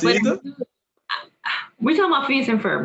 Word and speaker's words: Phineas and Ferb: Help me out if I pronounce this wrong. Phoebus and Fiber. Phineas and Ferb.